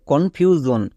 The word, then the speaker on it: confusion: পারে না কখন কোনটা উচ্চারণ করবে এর সঠিক উচ্চারণ হবে কনফিউজন এবার দুই নম্বর কোশ্চেন হলো যেখানে এফ ইউ